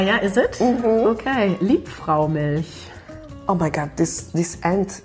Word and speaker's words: Liebfraumilch: Liebfraumilch.